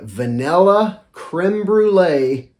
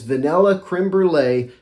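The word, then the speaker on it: crème brûlée: you can imagine a vanilla creme brulee take on that's not even the right way to say it it's vanilla creme brulee also a good dose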